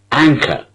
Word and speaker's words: anchor: Anchor. Anchor. Two syllables. Anchor. Listen to it again. Anchor. An is a first syllable and it is stressed.